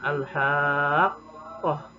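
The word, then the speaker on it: الحاقة: Ada alif mati sebelumnya fathah bertemu huruf tasydid, maka dibacanya diberatkan al-haqqah, haqqah, sepanjang 6 harokat.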